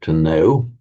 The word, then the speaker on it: know: The K, the pronunciation of the K is dropped.